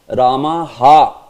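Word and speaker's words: रामः: It's not Ramah, it's Ramaha, you know, Ramaha. Say Ramaha. Not like very elongated.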